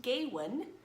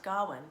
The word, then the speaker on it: Gawain: bigger version of it told me mom this is probably his name is pronounced Godwin dhawan and the Green Knight so we're changing it to Godwin okay now before I